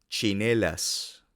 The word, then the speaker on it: tsinelas: leite le empleado plein TS se pronuncia similar a ch la palabra española chocolate por ejemplo check check cholate cholate tsinelas tsinelas sin embargo ho